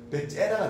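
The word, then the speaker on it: Bezzera: 베제라는 사람이 발음 잘해야 됩니다. 베제라가 됩니다. 제타가 두 개라서 베제라는 사람이 최초로 전기압을 이용해서 만들어낸 게 이 에스프레소 머신이죠.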